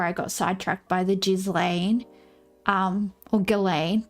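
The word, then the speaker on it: Ghislaine: This lady says Galain and she knew her. So I'm going to go with Galain. I would say that's how it's pronounced if she she knew her personally.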